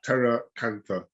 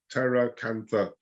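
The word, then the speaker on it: pteracantha: at pt yeah but the p is is silent so it's terra cantha okay if you just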